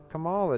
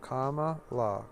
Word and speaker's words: Kamala: __ ] conservative nonsense they say her name incorrectly on purpose to make it sound like like like like all is having an orgasm Kamala oh it's comma comma law comma law comma like a sentence